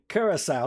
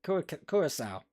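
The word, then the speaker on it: Curaçao: spanish letters there so that c with the hook on the bottom is pronounced with an s is that right you're a curacao um raymond i believe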